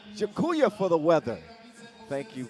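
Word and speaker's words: dziękuję: Jakuya. Jakuya for the weather.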